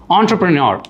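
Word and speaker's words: entrepreneur: ஆண்டர்பிரினியர், இது வந்து நிறைய பேர் என்டர்பிரினர் அப்படிம்பாங்க, இல்லாட்டி ஆண்டர்பிரினர் அப்படிம்பாங்க. இட் is called as ஆண்டர்பிரினியர்.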